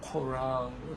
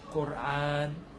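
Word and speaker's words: قرآن: 영어에서 이제 뭐 코란, 쿠란 이렇게 하는데요. 사실 아랍어로는 꼬르안이에요. 꼬르안.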